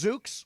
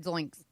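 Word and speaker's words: Zox: So, did you find it? It's Zuks. Zuks. How do you spell it? Z O X. Zuks. Not Zoinks. Zoink.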